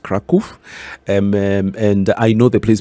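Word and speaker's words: Kraków: Poland a place called Krakow they call it Krakow but it's actually pronounced Krakow and I know the place because that's where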